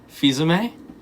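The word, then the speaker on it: Fils-Aimé: Phil's aim? Fizame? Yeah, there it is. That's how you pronounce it.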